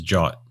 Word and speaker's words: JWT: The API key is essentially a JSON Web Token, or JWT, usually pronounced as JWT.